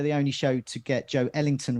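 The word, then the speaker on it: Joelinton: only show to get joe ellington right it's joe ellington not joe linton as everyone else is saying especially on match of the day so we'll do our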